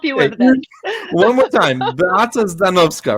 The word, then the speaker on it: Beata Zdanowska: one more time, Beata Zdanowska, right?